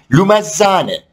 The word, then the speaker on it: Lumezzane: 2005 yılında 15 yaşındayken İtalya Serie C1 takımlarından Lumezzane, aslında doğru telaffuzu sanırım 2Z olunca TZ oluyor.